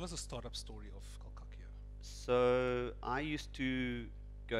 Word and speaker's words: Col'Cacchio: Col'Cacchio.